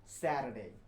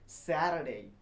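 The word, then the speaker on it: Saturday: আসে ওইটাকে বলা হয় স্যাটারডে স্যাটারডে আমার সাথে বলুন চেষ্টা করুন না হলে পারবেন না স্যাটারডে স্যাটারডে না বলে এখানে টিটাকে ওরা ডি এর মতো করে উচ্চারণ করে তাই এটা টি না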